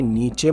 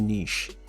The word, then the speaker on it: niche: इसको देखिए, नीचे मत बोलिएगा, ये एक्चुअली प्रोनाउंस होता है नीश।